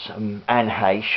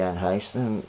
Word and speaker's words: Anne Heche: It stars, or it features, Anne Heche. I've only just recently found out that's how you pronounced her name. Yeah, she passed recently, didn't she, Anne Heche?